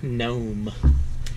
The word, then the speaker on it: Gnome: And this knife is the Boker Gnome. Now, for those of you unfamiliar with gnomes, or the spelling of gnomes, it's spelled Gnome, like opossum, or possum, or pumpkin, or pumpkin.